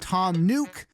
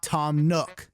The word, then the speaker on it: Tom Nook: to address this but his name is pronounced tom nuke and not tom nook the game does not